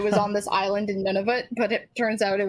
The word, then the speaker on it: Nunavut: I just thought it was like Navanut or Whatever. Never. No, like it's kind of like none of it, but none, like a deeper Nunavut.